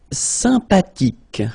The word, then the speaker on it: sympathique: Sympathique. Remember the H is not pronounced.